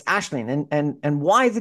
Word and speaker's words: Aisling: thought would have been Asen and she says it's ashleen and and and why the difference yeah so it's Irish uh you know like